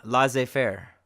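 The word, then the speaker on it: laissez-faire: last letter is Z these are also French words where the Z is not pronounced rendezvous and laissez faire so rendezvous is a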